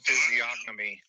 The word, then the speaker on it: physiognomy: The G's probably silent. This is Key Wendell. Let me see. Hold on. Are you looking to pronounce physiognomy?